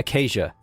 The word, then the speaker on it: Acacia: Acacia. Acacia. Acacia. We're going with that. Acacia is the new canon pronunciation.